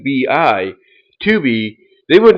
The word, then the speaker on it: Tubi: will not be surprised if Tubi, and again that's spelled T U BI, Tuby, they would not be surprised if Tuby ends